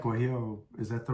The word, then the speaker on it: guajillo: Yeah, it was like guajillo.